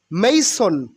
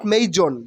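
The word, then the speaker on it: mason: ব্রাইবাভা ব্রাইবা ব্রাইবা ঘুষখোর মেইসন মেইসন নট মেইজন মেইসন মেইসন মানে রাজমিস্ত্রী মেইসন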